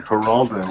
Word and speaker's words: Geraldo: And one of the names is pronounced with an H as in Geraldo, and the other one is pronounced with a G as in Geraldo.